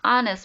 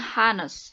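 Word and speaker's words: honest: dengan huruf x ya tetapi dibacanya Anas bukan hanes jadi enak girl and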